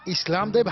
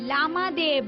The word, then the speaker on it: लामादेव: इस्लाम देव नहीं लामादेव लामा देव ठीक ठीक उच्चारण भी नहीं कर पाते हो।